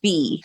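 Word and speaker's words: Phee: It's Fee, and how I'm remembering it is like she's earning a fee, like she's looking for money. She is earning her cash. Like it's fee. It's spelled different, but.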